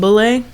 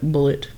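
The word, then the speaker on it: Bulleit: some Bulet yeah I'm I'm hurting like or we're Cowboys so I guess we should call it bullet well I mean it's pronounced bule though did you know that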